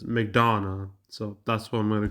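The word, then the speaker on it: McDonough: Who's Okay, Neil Mcdana or Yeah, Mcdana. I looked up how to pronounce his name. Says Mcdana.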